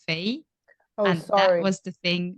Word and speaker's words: Faye: speakers super hard but the brand is pronounced Fay and that was the